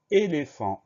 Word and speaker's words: éléphant: Le son F, on va l'écrire PH. C'est la grosse particularité de ce mot-là.